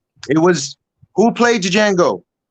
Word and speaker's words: Django: it was who played django the d is silent in that movie oh